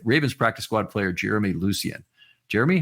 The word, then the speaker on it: Lucien: So that's the American way to say it. So my dad's side of the family, they're Haitian. So the correct way to say it is Lucien, but growing up, like a lot of people will mispronounce it. So we just tell everyone just to say Lucien.